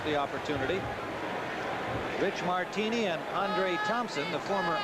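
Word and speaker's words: Aundra: We were told that he's changed the pronunciation of his name, spelled A-U-N-D-R-A, from Andra, as he was known in Green Bay, to Andre, as he's known here in New Orleans.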